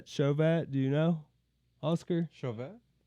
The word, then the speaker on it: Chauvet: Chauvet.